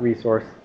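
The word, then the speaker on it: .rsrc: And dot RSC, or, well, dot resource, I just pronounce it like resource.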